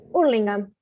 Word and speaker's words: Hurlingham: How do you pronounce it? Hurlingham.